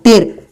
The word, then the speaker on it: tear: यदि आप TER, टीयर बोलते हैं तो आंसू, जो आंख से जो पानी निकलता है।